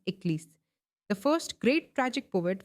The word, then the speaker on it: Aeschylus: Aeschylus, that is pronounced as Eccles.